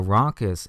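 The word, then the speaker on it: rhonchus: blocked bronchial tube and the textbook gives us a little pneumonic bronchus rhymes with bronchus so if you've got a blocked bronchus something going on there the physician's going to hear a ronus again that is a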